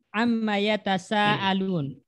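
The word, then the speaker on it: عم يتساءلون: Makanya di Al-Qur'an amma yatasaalun. Alifnya dibuang enggak? Enggak, Ustaz. Coba lihat. Amma yatasaalun. Oh iya. Amma. Saya dengarnya ma-nya panjang tadi. Iya. Ya. Emang dia secara bacanya tetap 2 harokat panjang.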